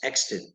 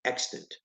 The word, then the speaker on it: extant: the right pronunciation is extent you want to emphasize the first syllable extent when something is extent